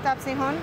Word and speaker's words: tapsihan: Khee told me we were going to a tapsihan. Did I say it right? Tapsihan? Tapsihan. Tapsihan. There we go.